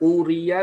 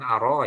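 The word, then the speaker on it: أُرِيَ: wasallam yang isinya adalah Uria diperlihatkan sapa Rasulullah sallallahu alaihi wasallam. Bacanya bukan aro ya. Kalau aro artinya saya melihat.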